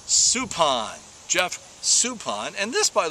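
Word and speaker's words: Suppan: Supan and he did it again yesterday it's Supan Jeff Supan and this by the way from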